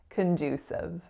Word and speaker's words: conducive: That second syllable is our winner, and the vowel sound that it makes is that moving oo, oo sound. So make sure it's not a pure oo. It's not conducive. It's condu. And then that third syllable is S, schwa, V. Siv, conducive.